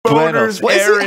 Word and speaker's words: Buenos Aires: You have to have a little bit of a lisp as well.